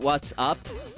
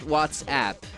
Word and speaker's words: WhatsApp: It's exactly the same thing as WhatsApp trying to tell people to pronounce it what's up. No, if you want your app to be called What's Up, name it What's Up. It's called WhatsApp.